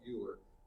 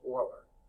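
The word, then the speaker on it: Euler: used to call it uler until I saw a book that said though it's pronounced Oiler like the Houston Oilers but they don't exist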